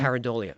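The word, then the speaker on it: pareidolia: Paridolia. Paridolia.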